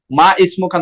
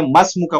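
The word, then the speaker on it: ما اسمك: যেভাবে আমি বলছিলাম মা ইসমুকা না বলে মাসমুকা বলতে হবে, যেভাবে আমরা ইসমিল্লাহ এটাকে আমরা বা দিয়ে শুরু করলে বিসমিল্লাহ বলতেছি, ঠিক আছে?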